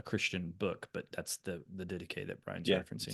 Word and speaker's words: Didache: If anybody comes across that word, it looks like it's pronounced didakia.